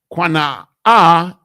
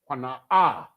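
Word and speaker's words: קנאה: Qana'ah, jealousy. Qana'ah. Qana'ah. Those are the letters. You understand? Qana'ah. Qana'ah. Here we have the connectors here. It's 3 connectors, therefore 3 syllables.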